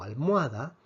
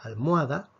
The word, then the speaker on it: almohada: la h dijimos que la h en español no se pronuncia la h en español es muda por lo tanto si tenemos una palabra como almohada es como si la